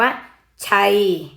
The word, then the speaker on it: ชัย: อ่าน เป็น เสียง ไอ คำ นี้ อ่าน ว่า ชัย ชัย ช้า นะ เวลา